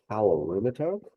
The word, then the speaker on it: calorimeter: So measuring heat energy, heat changes, that process is done in a device called a calorimeter. That's how you pronounce that word as well.